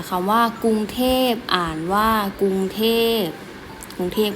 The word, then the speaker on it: กรุงเทพฯ: เจ็บ นะ คะ เขา ว่า กรุงเทพ อ่าน ว่า กรุงเทพฯ กรุงเทพ ก็ เป็น วง หลวง ของ ประเทศ ไทย